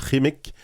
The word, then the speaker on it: Qimmik: On est avec Michel Jean, on discute de son livre Rémique. Je le prononce bien, là?